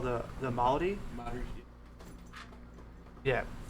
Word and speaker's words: Maori: Maori. Yeah, it's spelled Maori.